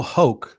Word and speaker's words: Hoecht: the former Buffalo saber Michael hul is how I believe it's pronounced I could not find a pronunciation guy but that's how it's pronounced in a couple of videos I watched uh he is more